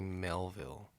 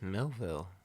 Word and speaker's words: Millville: deep into Melville, and Why do you always say Melville? Because it's Millville. Now you said it right, but before you said Melville.